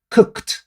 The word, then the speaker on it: cooked: en pasado se pronunciaría cooked como podemos ver la e no se pronuncia y la d se pronuncia como si fuera t stop paro stopped paré